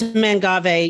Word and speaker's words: mangave: whatever they call them it's mangave you know why I know because you bought because I got no because I got chewed out by another Garden writer who will not be named because I pronounced it incorrectly about 10 years ago and she's from the western part of the us so she knew the proper pronunciation and she was like